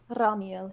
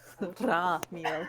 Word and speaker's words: Ramiel: Ramiel, yes. Sorry. I'm always going to have difficulty with the language. Doesn't count if you don't roll your R's. Ramiel, yes.